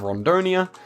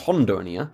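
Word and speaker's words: Rondônia: Okay, then we have Rondonia. I think it's pronounced Hondonia, and then also I learned some other pronunciations.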